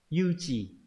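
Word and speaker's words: 誘致: Đọc là gì đấy? Đọc là yu chỉ.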